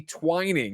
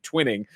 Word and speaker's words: Twining: remain remember that delaney twining recently told us for years we've been mispronouncing his name twinning i definitely fell back in old habits and said twinning at the top so i